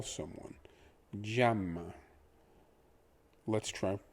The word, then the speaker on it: llama: The double L is a ja. If you're, it's a j. The A is an a. The M is m. And the A again is a. So we have j, a, m, a.